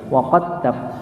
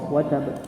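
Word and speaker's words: وَتَبَّ: Nah, di sini menunjukkan bahwa ada salah satu riwayat Quran yang itu bacanya bukan watab tapi wa qattab.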